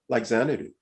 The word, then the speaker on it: Xanadu: That's why you're investing in things really early, like Xanadu.